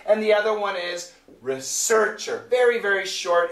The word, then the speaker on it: research: And also, the most important thing is the intonation. And here is where students have a problem. They know the different pronunciations, but the intonation. So, researcher, researcher. That's the intonation. Research, research. That's the intonation, okay?